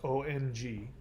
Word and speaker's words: om: indra which by the way before there was om which is pronounced ong before there was ong there was and in